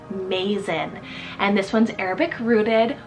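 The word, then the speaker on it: Mazen: for the boy side is Mason spell m-a-z-e-n Mason and this one's Arabic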